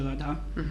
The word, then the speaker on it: al-Adha: Family get together by the end of Ramadan for Eid al-Adha, which is like Christmas here.